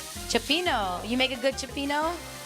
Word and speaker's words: cioppino: I love cecchino. Cioppino.